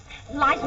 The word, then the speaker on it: Liza: It's Liza with Z, not Lisa with an S, because Lisa with an S goes snubs Z instead of S, lie instead of Z.